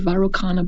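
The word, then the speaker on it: Vairocana: buddha that is called the varroa chana buddha you'll also hear it pronounced the viral buddha and the buddha is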